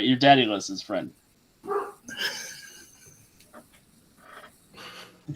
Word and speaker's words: Daedalus: You're Daddyless's friend. You say Daddyless? Yeah, Daddyless. That is Said how it's Daddyless. pronounced. Yeah. Said Daddyless. I've always pronounced it as Daedalus.